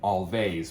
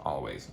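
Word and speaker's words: Alvvays: morby number two we're staying in Canada for always or as I like calling to bug my wife all vase but it's it's spelled it is pronounced always with their third record Blue rev um again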